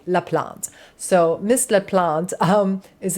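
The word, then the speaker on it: LaPlante: There is Spirit Box with Miss Courtney Laant, which for some reason I always want to say her name is Courtney La Palante. I don't know why I want to call her La Palante. She is a queen and she deserves for me to say her name correctly. La plant.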